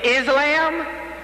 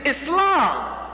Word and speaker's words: Islam: That's how they say it. Islam. Y'all like that Islam? It's Islam.